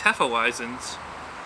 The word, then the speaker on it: Hefeweizen: Need to finish up these Hefeweizens. Oh, I know it's actually pronounced Hefeweizen.